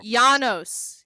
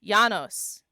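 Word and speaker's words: Janos: I got a corner and throw Yanos. Yanos. Yanos. Yanos. Yanos. Oh, I can spell it for you if you'd like.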